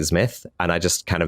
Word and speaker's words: Zmith: It's it's like Smith but with a Z. Uh, so you say it like Smith and I just kind